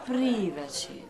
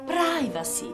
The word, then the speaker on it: privacy: Che privaci? Non ti si può proprio sentire. Privacy, si dice privacy. La I si legge ai.